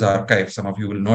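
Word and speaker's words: arXiv: very uh interesting portal called archive AR XIV pronounced as archive some of you will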